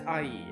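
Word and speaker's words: 阿姨: Okay, so auntie in traditional Chinese is ayi. I think that's how you pronounce it, right? Yeah, it's ayi. It's ayi.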